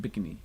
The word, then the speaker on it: Bikini: here think of as bikini marshalese pronounce it bigamy they can they relocate